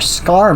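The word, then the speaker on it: Skaarj: They've seen a Scar vessel, and that is how you pronounce that.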